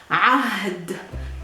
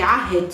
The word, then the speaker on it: عهد: It's an Ain with an H without vowels, and then a D, no vowels. So it's really a little bit difficult for you to pronounce. Ahd. Ahd. Ahd. To simplify it, we say Ahid, so we move the H a little bit towards the E.